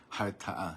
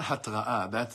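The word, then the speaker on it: הרתעה: Harta'a. You've heard that word? Harta'a. Lehartia. How do you say harta'a? Deterrence. Deterrence. Not hatra'a.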